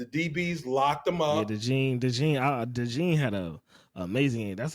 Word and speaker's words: DeJean: Yeah, DeJean had a amazing game. That's how you say his name, DeJean.